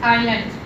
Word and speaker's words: island: This space island. S is silent here.